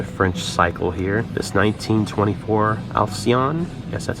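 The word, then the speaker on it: Alcyon: we have another french cycle here this 1924 alcion yes that's how you pronounce it i learned several things in the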